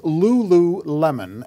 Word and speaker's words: Lululemon: here yes i do pronounced lulu lemon athletica l-u-l-u the ticker symbol what